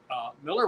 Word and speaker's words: Millar: Um, Mark Miller, and it is Miller, not Millar, no matter how he wants to spell it, had an interesting prediction